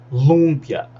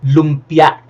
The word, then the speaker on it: lumpia: dessa um brasileiro fala lumpia lumpia tudo Bem mas oase o stress tem que no final na Segunda silaba lumpia lumpia lumpia Lumia Lumia